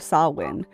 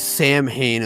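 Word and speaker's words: Samhain: the first day of sawin thank you for the love of God thank you for finding out the pronunciation of that because that is a number one thing everyone sees Sam Hayne and they're all like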